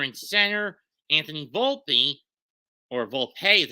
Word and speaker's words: Volpe: Anthony Volpe, or Volpe as it's actually pronounced, in short.